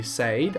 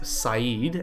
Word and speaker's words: Said: Said. I know his real name is Said, and that's how it's pronounced, but I'm going to call him Said because it's easier.